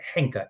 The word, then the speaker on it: Henka: Well, listen carefully, because Henka has so many different spellings depending on how you hear it. So listen carefully. Henka is spelled H as in hotel, E as in echo, N as in November, K as in kilo, that's the key one, and then A is in alpha. So Henka, Henka.